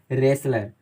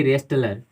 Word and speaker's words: wrestler: तो हम इसे पढ़ते हैं रेसलर, ना कि रेस्टलर। यहाँ पे W और T दोनों साइलेंट लेटर होते हैं, चुप रहते हैं, उनका उच्चारण नहीं होता है, प्रोनाउंस नहीं होता है।